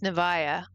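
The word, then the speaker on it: Nevaeh: I know somebody that, named their baby Heaven spelled backwards, and it's pronounced Nevaya.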